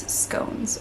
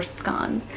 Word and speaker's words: scone: similar and that is scones or scones i'm not sure how you guys say it with the like short o or the long o um i'm gonna say scones because that is how i said it growing up in the states and i'm still not